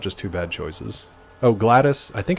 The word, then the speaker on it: GLaDOS: excited about no it's that's just how it's pronounced it is pronounced that way as far as I know glattus not GLaDOS yeah it's just glattus gladios no RFK no